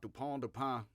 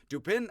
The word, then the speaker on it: Dupin: the name dupin not dupont i'm going to pronounce it like an american dupin because he's duping people whether or not he's a dupe or a dupin of people he is duping people so like the rue